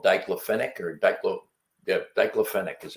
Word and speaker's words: diclofenac: And the main ingredient is called diclofenac, or diclofenac is how I pronounce it, which is it's an anti-inflammatory drug.